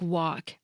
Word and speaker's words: walk: This is exactly what happened with words like walk and talk. That dark L started transforming into more of a vowel sound, like a subtle oo, or into W.